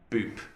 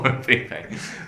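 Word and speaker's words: Bupe: so I was thinking, is it Boop or Wupe? But it's Wupe, because the way they pronounce B is with a bit of a W sound as well.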